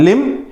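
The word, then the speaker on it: limb: कैसे आ रहा है लिम हिम लिम हिम बी यहां पे साइलेंट आता है तो लिम हिम के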